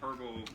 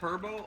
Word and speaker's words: herbal: the 2021 for some herbal tea. Is it herbal or herbal? It's Like herbal, man. What? like the H What is is with you today? Like, the H is silent.